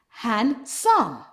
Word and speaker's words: handsome: Sometimes when we have N and D together, we remove the D. For example, handkerchief, handsome, sandwich.